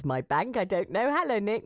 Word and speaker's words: MyBnk: financial education charity MyBnk, which I suppose you pronounce MyBank. I don't know. Hello, Nick. Morning. Morning. Thanks for having me. It's a pleasure. How do you pronounce it? It is MyBnk, yes.